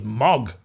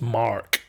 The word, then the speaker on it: Mark: people if I say my name like I would normally hear Mark they'd think my name was Mog or right so you have to pronounce it someone says what's my name there I have to say oh it's Mark cuz otherwise they